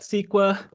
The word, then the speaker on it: CEQA: you need to know the California Environmental Quality act we pronounce that squa the forest Practice Act